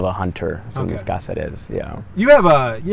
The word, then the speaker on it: Cazares: this is for posterity so be honest cazares did i say your last name correctly almost almost that's okay how do you say it we say gossip is but it's kind of it's not i have